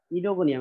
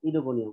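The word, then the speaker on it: Oedogonium: ইডোগোনিয়াম, এখানে ও আর ই এর উচ্চারণটা আমরা করব ইডোগোনিয়াম, ও এর উচ্চারণ হবে না।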